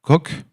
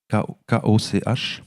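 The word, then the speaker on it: Koch: éminent neuroscientifique s'appelle Christophe coq ko je crois qu'on prononce co qui est le fondateur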